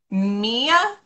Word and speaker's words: Mya: you have a little in parentheses mia yes is that how you pronounce it okay yeah okay cool